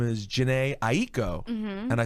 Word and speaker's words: Aiko: And then I looked and I'm like, okay, Aiko, like it's supposed to be 2 syllables. And then someone in my family explained to me that is the Japanese way to say it. You can say Aiko.